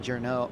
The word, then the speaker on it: Journeau: It's pronounced Jordan Journeau.